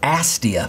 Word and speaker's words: Astia: because it represents the tone curve from fuji's astia film that's the correct pronunciation by the way astia was a hundred